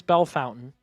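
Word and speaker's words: Bellefontaine: Bell Fountain, Ohio. I've heard it pronounced different ways, but I was told locally it's Bell Fountain.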